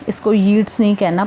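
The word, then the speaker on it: Yeats: ठीक है जी, तो इस पोएम के बारे में सबसे पहले जान लेते हैं कि ये लिखी है विलियम बटलर येट्स ने। इसको येट्स नहीं कहना, प्रोनाउंसिएशन येट्स है, इसको हम WB येट्स भी बोल देते हैं।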